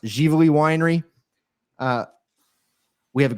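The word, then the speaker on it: Ziveli: online type in z-i-v-e-l-i looks like zavelli it's pronounced jivoli Winery uh we have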